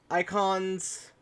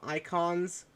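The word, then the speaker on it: Eikon: that before called them icons which i which from what everyone else has said is spelled e-i-k-o-n but who knows it's probably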